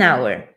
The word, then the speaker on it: hour: An hour, temos aqui uma consoante, mas aqui o H é mudo, não se lê.